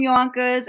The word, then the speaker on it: Yonkers: I'm from Yonkers, and Which rhymes with bonkers.